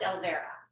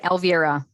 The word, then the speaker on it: Elvira: Okay, Elvira, it's pronounced Elvira, right? Elvira. Elvira. Yes.